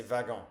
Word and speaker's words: wagon: Ok, c'est wagon en fait. Même s'il y a un double W. W, c'est wagon en français.